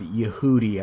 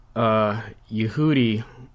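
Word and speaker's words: Yahudi: So we can see here Yehudi, the same that was on the map, is just the word for Jew. Sometimes they also have the alternate spelling, and they'll spell it phonetically Y-A-H-O-O-D-E-E.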